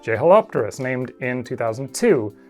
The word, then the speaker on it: Jeholopterus: way more recently, like Jeholopterus, named in 2002, which I guess should actually be pronounced Jeholopterus?